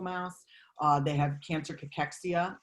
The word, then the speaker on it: cachexia: uh they have cancer cachexia which i always spell out for people it's c-a-c-h-e-x-i-a is how it's actually pronounced and so we know